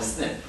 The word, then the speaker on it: SNP: this kind of variance are called snip so single nucleotide polymorphism so it's a short form of SNP and then is pronounced